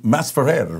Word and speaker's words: Masferrer: Masferrer, right? Is that how yes. you pronounce it?